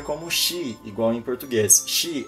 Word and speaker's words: 是: Shi, o SH você não pronuncia como shi, igual em português.